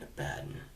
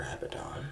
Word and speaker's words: Abaddon: And the Carver, and Abaddon, or Abaddon, it's pronounced both ways.